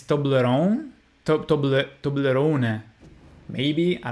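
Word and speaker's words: Toblerone: a Swiss uh uh it's a Swiss cake I mean chocolate thing so if it's German then it's tobleron to to toon maybe I don't know tobleron that it it doesn't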